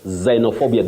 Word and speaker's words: xenophobia: in English bet so this is an X but you pronounce it as the vo sound Z xenophobia you get that xenophobia